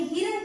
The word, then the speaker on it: हिरण: अभी देखिए यहाँ पर हा, हा में छोटी की मात्रा ही, र, न, हिरण। क्या हुआ, किसान हिरण। देखा यहाँ पर हमने हिरण का उच्चारण किया, हिरान का उच्चारण नहीं किया, हिरण, क्योंकि यहाँ पर सिर्फ